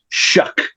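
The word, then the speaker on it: Shough: It's the guy's name is pronounced Shuck.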